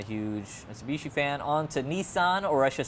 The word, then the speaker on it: Nissan: Mitsubishi fan on to Nissan or I should say Nissen as it's pronounced in Australia and around lots of places in the world GT R 2017 pretty